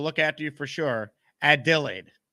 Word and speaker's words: Adelaide: after you for sure ad delay ad delay add delay there we go ad delayed that's the phonetics pronunciation thank you to Sarah